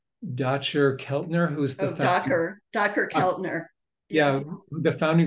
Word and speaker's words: Dacher: give from someone whose name I will not pronounce correctly, Dacher Keltner, who's the Oh, Docker, Docker Keltner.